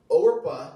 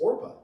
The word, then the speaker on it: Orpah: But it's actually interesting, for fun fact, Oprah Winfrey, her name on her birth certificate is Orpah. She was named after this woman in Ruth. Wow. In fact, the reason why we call her Oprah is because her aunt mispronounced Orpah and called her Oprah.